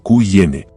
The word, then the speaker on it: Qin: Se escribe como Q-I-N, pero se pronuncia como Qin.